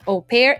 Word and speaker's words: au pair: u space p a i r that is au pair it is not a word in english that